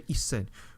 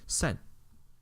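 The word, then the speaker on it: 千: So we don't say isen. We just say sen.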